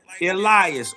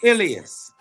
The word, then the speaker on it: Elias: You can you can say it like that. Elias or Ilas.